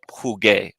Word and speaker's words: jugué: maintain that is by inserting a U, which becomes silent in front of the A. And when G is followed by U, it gives the hard G sound. So it helps us maintain the original sound.